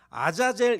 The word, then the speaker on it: 아자젤: 위하여 라보 얘기에요 4 히브리어로 아 사실 아사 세리 라는 단어가 요 아자젤 이라고 발음합니다 아 자제 내의 아자